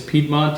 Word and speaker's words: Piedmont: area the region is piedmont in english it's piedmont yes oh in italian it's pie month so